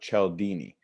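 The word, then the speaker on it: Cialdini: the word influence and that's by Robert Chell Dini and she'll Dini is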